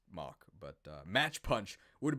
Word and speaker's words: Mach: move very good move i used to call this match punch because i didn't know it was actually pronounced mock but match punch would